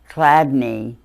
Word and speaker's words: Chladni: A Chladni plate, but it's spelled CHLATNI.